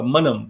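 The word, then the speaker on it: Manam: So let's take Andhra Pradesh, let's take uh Manum, right? That that's how you pronounce it.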